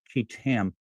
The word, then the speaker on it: qui tam: Do filed a federal kit lawsuit. It's spelled qui tam under the false claims act on behalf of the American people.